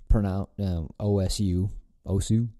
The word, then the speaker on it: OSU: The term OSU. Pronounced os, is Japanese.